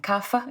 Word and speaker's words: Kapha: think you pronounce it, the Vata, Pitta, and Kapha, if I pronounced them correctly.